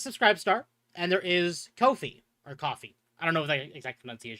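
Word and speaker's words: Ko-fi: star and there is Kofi or coffee. I don't know the exact pronunciation of that. It it's supposed to be coffee. I don't know if they do it coffee or kofi though.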